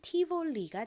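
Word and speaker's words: Tivoli: 하겠습니다 어떻게 읽으면 될까요 가장 앞에는 t 소리 나고요 아는 e 소리 나고는 진동이 들어간 비읍 소리 나죠는 O 소리 나고은 리을 소리 나고요이 L 뒤에 모음이 오면은 그 모험과도 연결되어 다시 한번 소리가납니다 아는이 소리 나니까 연결하면 티볼리가 되죠이 티볼리 역시 쏘렌토 럼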